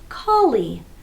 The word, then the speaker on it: collie: The word is call-lee, collie, collie. And I don't really say call-lee with two L sounds, but what I do